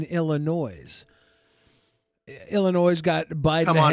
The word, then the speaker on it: Illinois: There's no noise in Illinois.